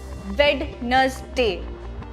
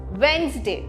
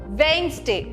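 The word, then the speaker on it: Wednesday: Instead हमें डी को silent करना पड़ेगा। वेडनेसडे वेडनेसडे। तो इसका तो हम डी को साइलेंट रखते हैं और इंस्टेड ऑफ डी हम एन और जेड लगाते हैं। कैसे लगाते हैं? ऐसे डब्ल्यू ई एन Z veins veins veins day डी ए वाई डे। ये हो गया आपका सही प्रोनंसिएशन।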